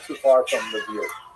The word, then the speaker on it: Lviv: So this is in the western part of Ukraine, not too far from Lviv, or Lviv as it's pronounced now.